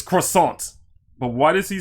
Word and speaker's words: croissant: hear Kall Weezer say croissant. It's croissant. Croissant. It's croissant. I'm good. I'm good. But that's how you say it, croissant. It's not croissant.